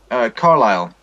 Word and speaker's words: Carlisle: is in Ireland the the S is silent this s is silent